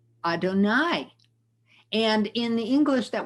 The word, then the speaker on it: Adonai: and for many many generations jews have been pronouncing this word adonai and part of the fun of reading the